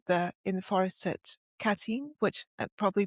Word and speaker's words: Katyn: The massacre at the in the forest at Katyn, which I'm probably pronouncing wrong.